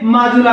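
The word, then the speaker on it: Majuli: माजुला द्वीप, माजुला। आप इसको माजुली भी बोलते हो, वो आपका उच्चारण है, इसे माजुली या माजुला द्वीप बोल सकते हो।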